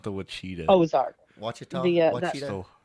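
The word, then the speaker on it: Ouachita: But it's spelled with an O. Yeah, it's spelled with an O. It's very weird spelling.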